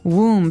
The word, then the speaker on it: womb: explained about a woman's womb womb so this might look like a very hard word to pronounce there's a b there so w-o-m-b we don't